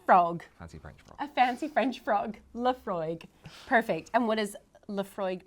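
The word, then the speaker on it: Laphroaig: All vowels. All vowels. Lafargue. Lafargue. Now, I'm sure you'll have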